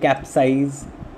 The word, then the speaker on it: capsize: In the case of eyes, you find capsize, baptize. So it is not the syllable cap that is stressed, it is the word size, syllable size that is stressed.